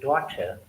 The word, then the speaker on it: daughter: For example, the word daughter, British speaker will say daughter, because R towards the end is not pronounced.